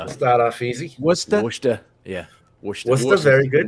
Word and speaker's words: Worcester: start with these start off easy what's that worcester yeah what's the very good worcester worcester very